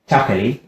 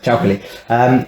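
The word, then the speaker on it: 巧克力: And then traditional Chinese medicine, chocolate, which they call chakali, which is just like Chinese pronunciation chocolate, chakali, where it tonifies the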